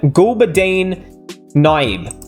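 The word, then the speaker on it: Gulbadin Naib: A strong finish by Gulbadeen Naib.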